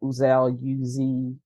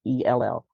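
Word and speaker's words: Uzzell: I think last name is pronounced Uzell, Uzell.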